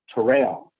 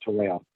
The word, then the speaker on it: Terrell: in the southeast but in the northeast it's pronounced terrell but it's still t-e-r-r-e-l-l so it's not it's